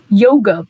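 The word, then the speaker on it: Jóga: The next track is Yoga, but it's spelled with a J.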